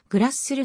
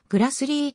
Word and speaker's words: Grassle: 女優日本では名字の読み方を間違えられていて本当はグラスするではなくグラスリィと泳ぐ 1942 年米